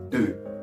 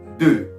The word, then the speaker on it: deux: When you want to pronounce number 2 in French, you're supposed to say D, but round your lips. When you round your lips, it's going to sound like deux. Can you pronounce it? Deux.